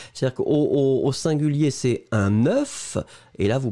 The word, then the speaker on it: œuf: C'est-à-dire qu'au singulier, c'est un œuf, et là, vous prononcez le F final, mais quand vous le mettez au pluriel, la prononciation change radicalement.